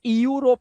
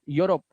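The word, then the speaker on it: Europe: यू जैसे यूरोप इसे इयू रोप नहीं पढ़ना है। यूरोप इसी तरह से यूलॉजी।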